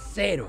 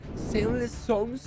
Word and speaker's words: Zero: fantasía que se llama sess s cero o mejor pronunciado Zero y se puede jugar